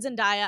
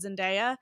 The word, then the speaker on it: Zendaya: pronounced both ways, so I don't think you're that. I've heard Zendaya. I've heard Zendaya.